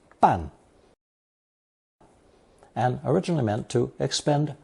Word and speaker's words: 办: It's pronounced fourth tone 半 and originally meant to expend great effort, literally doubly painful effort.